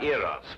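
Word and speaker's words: Eros: and here he is Cupid the Greek god iros with his broken feet oh oh I see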